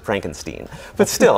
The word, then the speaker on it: Frankenstein: Actually, he pronounces it Frankenstein, but still, a doctor named Frankenstein.